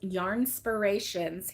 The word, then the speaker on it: Yarnspirations: started out with um how to pronounce yarnspirations he's like it's just like inspiration but with yarn and I was like